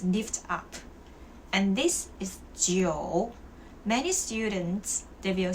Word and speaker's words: 酒: That's why alcohol in Chinese is 酒酒. Even you cannot see the O here, but you still have to pronounce it.